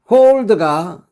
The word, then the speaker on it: hold: 홀드가 좋은 귀의 날씨 등이 지속되다 계속되다라고 했습니다. 꼭 기억하세요. 발음할 때 홀더가 아니고 홀드 홀드라고 해야 됩니다.